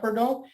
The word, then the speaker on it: Bordeaux: Fighting against Killer Cross with Scarlett Bordeaux. It's pronounced Bordeaux in the background with him and everything.